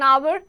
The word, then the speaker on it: hour: Then words beginning with a silent H take an before them. Examples: an hour, an honest person, an honor.